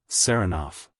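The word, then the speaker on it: Saranoff: him round this way he pronounces the name with the stress on the second syllable sarof Nicola yes sir he goes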